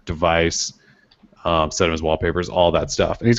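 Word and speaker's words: WLPAPR: app although it's called well it's called wallpaper at least that's how you would say it but it's spelled WL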